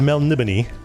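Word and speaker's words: Melniboné: looking for elric of mel nibini i know it looks like melanie bone but there's eventually you meet a barbarian who who pronounces it phonetically and so you know how to pronounce it this is what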